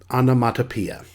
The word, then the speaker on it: onomatopoeia: heard of this before it's pronounced anamatapia onomatopoeia the examples we have